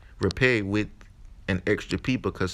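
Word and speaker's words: rapé: and beautiful healing medicine it is pronounced repay in Spanish or most more commonly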